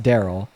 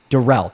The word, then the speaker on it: Derell: Uh I know it's not pronounced Daryl. Derell, there we go.